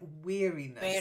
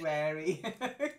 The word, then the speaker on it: weariness: end wicked wicked Wicked that's it and then weariness you said wary yes yes sing that song yeah when you